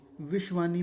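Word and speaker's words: विश्वानि: हैं दूसरा शब्द है विषानी विषवाणी में हम बीच में देखेंगे तो तालव्य शकार है यह तालव्य शकार जिसको हम शलजम वाला बोलते हैं और वह आधा विश्वाणी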